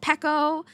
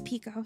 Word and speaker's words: Pico: Okay, everybody says my name wrong. I get called PCO. Uh, PCO. Um, well, those are the two main ones, but it's Pico.